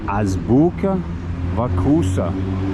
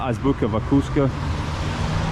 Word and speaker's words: Azbuka Vkusa: And Azbuka Vkusa. I think I usually in my head call it Azbuka Vkusa, but that would be wrong. So I'm trying to say it properly.